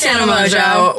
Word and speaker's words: Tana Mongeau: I'm Tana Mongeau. Why did I say it like that? Why did I say it? Tana Mongeau. It's Tana Mongeau.